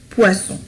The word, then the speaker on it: poisson: Regardez, poison, poisson. هنا لفظناها ز وهنا لفظناها س. لماذا؟ لأن هنا لدينا un seul S وهنا لدينا double S. يعني un seul S va changer la prononciation et aussi la signification.